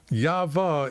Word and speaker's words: Yahweh: I say Yahweh, or I'll say YV. Yahweh is how they pronounce these two letters.